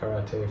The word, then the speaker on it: karate: and I had Karate. I think that the proper way to say it. In America we all say ‘karate,’ even though that’s obviously not right.